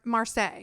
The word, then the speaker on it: Marseille: to marseille yeah and we're saying marseille because thought it was marseille it's not in france because we said how do you say they go oh it's marseille right yeah yeah so we're actually pronouncing it as they would and how they taught us if we botched some